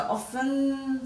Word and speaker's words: often: hassles jostle and castle so all of those T's are silent in the first we really have some they've got them finishing with a schwa sound so often soften fasten hasten listen